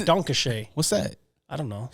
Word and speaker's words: Danke Schoen: do they say there donkey chains donkey chains no it's Danke Schoen what's that I don't